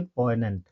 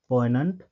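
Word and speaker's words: poignant: यहां पे जी साइलेंट हो जाएगा। ठीक है ना? यह क्या हो जाएगा? साइलेंट हो जाएगा। तो इसको हम प्रोनाउंस करेंगे पोइनेंट। ठीक है? पोइनेंट।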